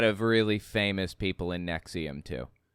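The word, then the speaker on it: NXIVM: the by n x i v m is pronounced Nexium so anyways um the guy or the there was somebody from Smallville that was in Nexium I don't remember who it was or what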